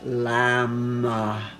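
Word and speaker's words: लं: this um root chakra and then the one syllable Sanskrit mantra that goes with it is lamb lamb lamb.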